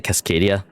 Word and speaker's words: Cascadia: Now, signal from Amber Heights, Stellar Bay, and I want to say Cascadia. No, that is how you say it. Cascadia.